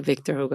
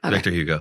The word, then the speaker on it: Victor Hugo: the face of God love it thank you Victor hug is that the author yeah is that how you say it in English M Victor Hugo how do you pronounce it yeah that's it Victor Hugo yeah thanks for this conversation this was fun